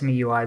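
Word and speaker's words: MIUI: I'm saying my UI, it's me UI.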